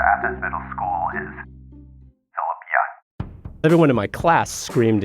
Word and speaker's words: Yun: Now, the proper pronunciation of my name in Korea is Yun. But I'm in southeastern Ohio, and no one could say it that way. And so it was just easy to say Yun because that's the way it was spelled. It rhymes with fun, and that's what we did.